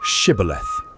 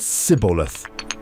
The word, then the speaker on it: Shibboleth: They ask them to say the word shibboleth. The Ephraimites couldn't pronounce the esh sound. They said siboleth, and they were killed.